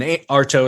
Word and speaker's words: Artaud: And Artaud is spelled A-R-T-A-U-D.